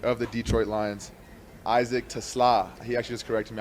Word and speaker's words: Teslaa: We got the one and only third-round pick of the Detroit Lions, Isaac Teslaa.